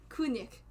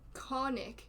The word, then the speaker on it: Kunik: Kunik. That's how you say it. And what do you mean Konik? I say Kong otherwise.